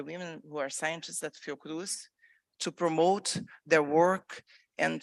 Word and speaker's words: Fiocruz: experience at, I'm going to mess up the pronunciation, but Fiocruz? Fiocruz, that's perfect.